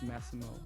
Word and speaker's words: Massimo: on the eye anymore i used to have that in the beginning and then it was masimo but now it's massimo massimo like that means strong right